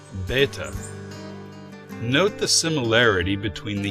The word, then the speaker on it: Bet: This letter has a B sound, as in bed, or a V sound when it follows a vowel.